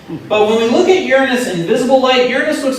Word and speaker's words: Uranus: last destination, is probably the most mispronounced place in the universe. Uranus, yes. And of course, it's not Uranus. It's Uranus. And actually, if you want to be extremely pretentious, you want to say Uranus.